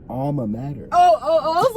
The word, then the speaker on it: alma mater: Major? No, alma mater.